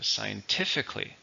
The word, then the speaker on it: scientifically: family here which is scientifically same meaning but this isn't an adverb as we see here it has four syllables stresses on the third scientifically scientifically speaking this new medicine